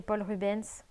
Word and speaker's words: Paul Rubens: fonds à l'aquarelle l'encré paul rubens puisqu'on m'a dit que le s se prononcer donc pole dance et